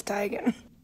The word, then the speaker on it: Teigen: by a video giving the world the correct pronunciation take a look told you it's Tiger see I've been thinking is Chrissy Teigen its tiger her name is Christie Tigan Oh what about me but she let us